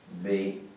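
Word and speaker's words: בן: And it's pronounced B-E-N. Ben.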